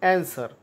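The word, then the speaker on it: answer: डब्ल्यू यहाँ पर silent है, डब्ल्यू का उच्चार नहीं होता है इसलिए डब्ल्यू साइलेंट है, इसलिए इसका आंसर डी है।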